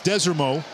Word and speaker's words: Desormeaux: You heard Taylor talk to Michael Desormeaux. That's the pronunciation. You've heard it a number of different ways, Desormeaux, but it's Desormeaux.